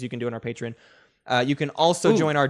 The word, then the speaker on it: Patreon: I called it Patreon because that's how it's pronounced. Yeah, but you said patron.